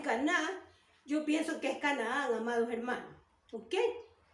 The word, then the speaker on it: Canaán: la tierra de Canaán pienso que se dice Canaán muchos dicen que es caná pero yo creo que es Canaán porque tiene hiato y